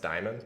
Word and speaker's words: Dimon: let's get to it is his last name pronounced Diamond because that's awesome yeah it is actually he was born to